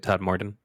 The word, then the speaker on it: Todmorden: That brings us to Todmorden UFO. Is that how you say it, Todmorden?